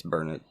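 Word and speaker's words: Burnet: it burn it yeah my Texas wife told me it's burn it so I grew up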